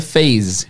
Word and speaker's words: phase: Por exemplo, a palavra fase, em inglês é phase, com som de Z mesmo.